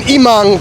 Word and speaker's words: Emong: Typhoon Immang came through here the day before my arrival.